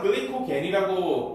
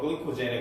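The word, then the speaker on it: glycogen: 근데 우리말로는 글리코겐이라고 보통 발음을 하는데 영어로 글리코젠에 가까워요.이 어 우리 신체가 활용하는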